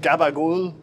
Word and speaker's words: capicola: the pepper salami hot capicola and I think in Italian they don't they pronounce it like gabagool yeah it's like how